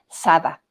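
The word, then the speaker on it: saddhā: en sánscrito que es más fácil pronunciarla en pali en pali es Sada Sada y de hecho mi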